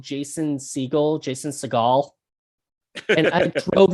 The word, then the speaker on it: Seagal: jason seagal and i'm like seagull seagull and i'm like he's not a seagull you know he's uh siegel like he's uh he uh just it tries to be nuts because it's not even spelled like with an a you know which would be cigal you know it's it's